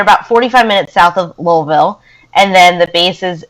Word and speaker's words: Louisville: The one thing I know is that it's Louisville, not Louisville. I'm still learning to say Louisville. Not Louisville. You don't pronounce the S at all.